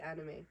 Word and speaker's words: Anayme: say my name then I'd rather you just say like anime yeah and you know